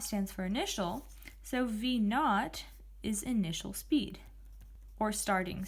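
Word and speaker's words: v₀: the actual variable this next variable here is pronounced v naught the little circle at the bottom corner is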